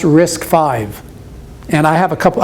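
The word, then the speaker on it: RISC-V: if you're interested in that it's called it's pronounced risk five and i have a couple i have a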